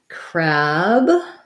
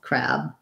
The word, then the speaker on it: crab: for the word crab we just have the k sound and this has the black cat vowel crab the b pretty much unreleased i'm not necessarily going to do crab with a strong b crab crab i'm just gonna stop and maybe not let that air out after that bee and